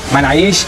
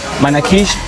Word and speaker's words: manakish: Jisko kehte hain manaish, manakish, whatever you call it. They are different pronunciation. Actually, they call it. Some call it manaish, some call it manakish.